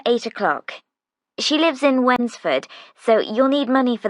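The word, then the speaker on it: Wednesford: for the bus fare winsford that's funny it's like when's the food no it's spelt w e d n e s f o r d it's a village a few miles out of town anyway friday is our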